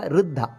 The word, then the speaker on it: ವೃದ್ಧ: ವೃದ್ಧ ಅಂತ ದೇವರಿಗೆ ಹೆಸರು ವೃದ್ಧ ಅಲ್ಲ ವೃದ್ಧ ಅ ಇ ಉ ಉ ಋ ವೃದ್ಧ ಇಲ್ಲಿ ನಮಸ್ಕಾರ ಮಾಡಬೇಕಾದರೆ ವೃದ್ಧಾಯ